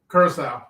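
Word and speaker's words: Curaçao: Curacao, is that how it's pronounced? Curacao, yeah, Curacao.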